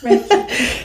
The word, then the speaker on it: Reiki: Yeah, Reiki. I always have one pronunciation that I do wrong.